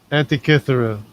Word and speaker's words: Antikythera: Antikythera. That's how Oh you yeah, pronounce it.